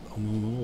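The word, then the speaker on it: ʻOumuamua: And then could there you is, pronounce that again? No, I can't. Oumuamua. Oumuamua?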